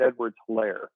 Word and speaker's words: Edwards-Helaire: I believe it's Clyde Edwards-Helaire, but like hilarious.